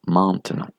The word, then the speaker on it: maintenant: concernant le E muet, si le E muet se trouve en deuxième syllabe, le E nasal doit être supprimé. D'accord? Vous ne devez pas le prononcer, donc vous diriez, dans ce cas-là, maintenant.